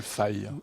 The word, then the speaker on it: Fi: Et ça s'appelle Google Fi. Ou Fi, oui. On le prononce à la française ou à l'anglaise, peu importe.